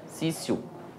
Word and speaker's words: Cício: Cício, né, mas a gente se lê aqui, ó, né? Cício. Que é latim, tá? Latim, TI se pronuncia C.